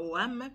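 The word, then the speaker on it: Hoham: Adoni-Shedek, roi de Jérusalem, fit dire à Oram, excusez-moi, excusez-moi, pas certain nom, c'est un peu difficile à prononcer, à Oam, oui, H-O-H-A-M, à Oam, roi d'Hébron, à Piréam, roi de Jarmut, à Japhia, roi de Lachis, et à Débir, roi des clans.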